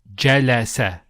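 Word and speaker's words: جلس: The complete verb will be read jalasa, which means he sat. And notice they're all short vowels. Jalasa, not jalasa. No, jalasa.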